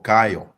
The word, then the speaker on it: Kayo: How do you say it, Kayo or Kayo? Yes, sir, you've said it correctly. That's Kyle. Kayo, all right.